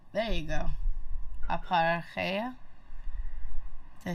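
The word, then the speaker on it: ἀπαρχή: Aparche. There you go. Aparcheia.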